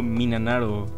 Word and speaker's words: 3776: 3776, pronunciado Minanaro, es una dupla formada por el compositor y productor Akira Ishida y la vocalista Chiyono Ide.